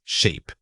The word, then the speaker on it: sheep: The word is sheep. Say it again. Sheep. For the e sound, truly stretch it out as you say it.